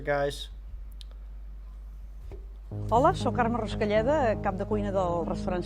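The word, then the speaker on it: Carme Ruscalleda: I'm not the best name pronouncer, guys. Hola, sóc Carme Rascalleda, cap de cuina del restaurant Sant Pau, a Sant Pol de Mar.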